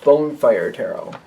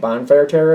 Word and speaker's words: Bone Fire Tarot: the read I'm using bone fire Tarot when I first got this deck I said it wrong a lot I kept calling it bonfire Terror it's the bone fire tarot